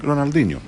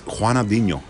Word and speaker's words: Ronaldinho: I was saying Ronaldinho. Yeah, me too. No, it's Juanadinho.